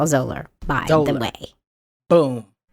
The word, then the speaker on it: Zahler: It's ZAHLER is how you spell Zolar, by the Zolar.